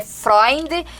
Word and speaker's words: Freunde: A pronúncia é Freud, mas a a escrita é diferente, é o nome que vem do alemão.